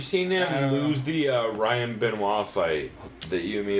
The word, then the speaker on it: Benoit: and number 2 is still not the right way to pronounce that word because it's not an anal bead. It's the only it's the only reason you should ever pronounce it like that. It should be Benoit.